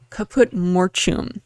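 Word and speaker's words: caput mortuum: So I do a little quick deep dive on it's called the color is called kaput mortum. Uh, no kaput mortum. That's how to pronounce it.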